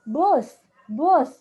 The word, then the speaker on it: bus: kita bilang uh gitu jadi bus itu dibacanya tuh bus-bus orang Indonesia dengarnya bis ngomong gitu bahasa Inggris base